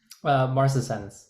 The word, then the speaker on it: marcescens: But in this case, correct me if I'm wrong on this, David, it's Serratia, how do you pronounce it? Marcescens.